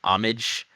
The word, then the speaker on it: Homage: were little Pip and amage right that's how you pronounce her name amage so there's an H there but we don't pronounce the h and they start talking